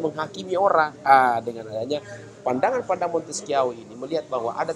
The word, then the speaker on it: Montesquieu: Jadi kalau saudara-saudara sekalian baca itu jangan baca Montesquieu. Orang Jerman dia. Jadi cara bacanya adalah Montesquieu mengutarakan teorias politika tentang kekuasaan negara.